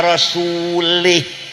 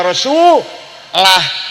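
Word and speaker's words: وَرَسُولُهُ: Wa annallaha barium minal musyrikina wa rasulih. Salah. Artinya Allah tidak melindungi orang musyrik dan tidak melindungi Rasulullah. Salah bacanya harus. Wa annallaha barium minal musyrikina wa rasulah. War rasul.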